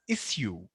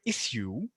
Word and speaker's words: issue: So most of us know this word as issue with the hard sha sound, like she or shape. But Britishers actually pronounce this as issue. There is no sha sound. They just say it like s, like snake or cell.